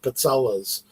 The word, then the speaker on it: pizzella: But my mother always makes the pizzellas. It's people call them different things around the country, but in Italian it's pizzella. But it looks like pizzelle.